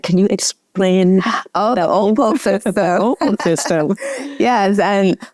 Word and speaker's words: OPLE: Yes, and like you mentioned, it's spelled OPLE. And people are like, how's that Opal? I said, because I'm dyslexic. So it's not OPAL, like the opal that a lot of people know, right?